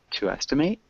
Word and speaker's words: estimate: Yeah, so we've actually got two pronunciations of that word. So we have the verb to estimate, and we have estimate. So estimate, to estimate is the verb, and an estimate.